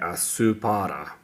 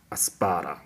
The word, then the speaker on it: アスパラ: Aspara, it does supposed to say asupara, but it's pronounced aspara, which means asparagus.